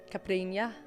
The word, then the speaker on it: caipirinha: Yeah, the strawberry caipirinha. Yeah, caipirinha.